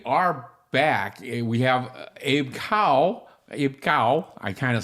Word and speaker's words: Kao: We have Abe Kao. Abe Kao. I kind of sometimes, as Asian, I should remember how to pronounce it. That K-O is more of a Gao sound.